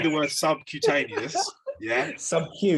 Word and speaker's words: subcutaneous: So when you say the word subcutaneous, sub-Q, you're pronouncing the start of the Q. Cutaneous.